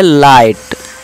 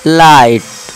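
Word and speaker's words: light: कि ऊंचा इस तरह नाइट जी और एच साइलेंट है आप बोल सकते हैं नाइट और यह लाइट एल आई जी एच टी लाइट लाइट मे साथ साथ बोलिए दोस्तो बोलेंगे तो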